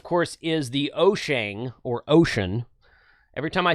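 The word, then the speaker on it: Wouxun: and says, no, it's Oshang. Every time I say Oshang, sometimes someone comes along and says, no, it's Ocean. You know what? It's spelt with a W.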